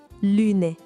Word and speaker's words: lune: O truque para pronunciar esse U bem francês é fazer um biquinho como se fosse da subiu, sabe? Lune, a lua.